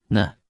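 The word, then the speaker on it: 呢: repita en voz alta na na na na na na na se pronuncia con el tono neutro la partícula na se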